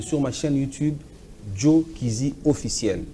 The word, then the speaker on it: Kyzi: Et en vidéo, allez sur ma chaîne YouTube, Joe Kizzy officiel. Donc, Joe, ça s'écrit J-O-E, Joe. Kizzy, c'est K-Y-Z-I, officiel.